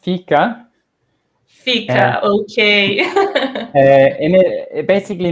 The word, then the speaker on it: fika: So it's pronounced fika.